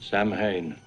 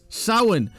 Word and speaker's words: Samhain: learned that dr loomis failed his irish classes samhain it means the lord of the dead uh no it doesn't because you didn't pronounce it right loomis you it's sauen not samhain this is a massive pet peeve of mine